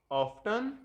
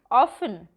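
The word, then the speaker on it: often: सिनोनियम, synonym, synonym, एंटोनियम, एंटोनिम, एंटोनिम, ऑफ्टन, ऑफन, ऑफन, data, data, data, pronunciation, pronunciation, pronunciation, अवर, R, एंड, aunt, aunt,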